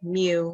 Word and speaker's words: mu: letter so it's pronounced mu like I don't know like a cat like what a cow and a cat would say mixed together something like that um